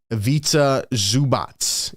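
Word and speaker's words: Ivica Zubac: chat says evazi avats let me let me get the correct pronunciation just to make sure I'm not uh not botching it but Evita zubatz is a monster it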